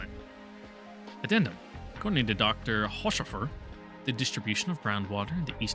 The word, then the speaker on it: Haushofer: Pronunciation. In German, please. Ausrufe. What? Ausrufe. Haushofer.